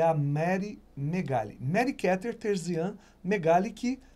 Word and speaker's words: Megale: daí de 1992, 93, que é a Mary Megali. Mary Keter Terzian Megali, que hoje responde como Mary Megali da One Way.